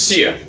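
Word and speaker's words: Cere: Seer. I gotta remember that it's Instead Seer. of opening Pronounce it up, as Seer.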